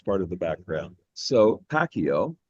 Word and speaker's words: Pacio: We normally say Pacquiao with a hard C.